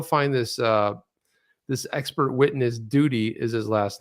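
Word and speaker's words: Doody: just so you know it's spelled d-o-o-d-y duty but it sounds like duty you guys don't know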